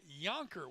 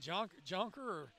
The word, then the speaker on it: Jonker: for number 24, Noah Yonker. We've been saying Jonker, it's spelled Jonker, but we should have known better because Noah actually hails from right here in Alexandria.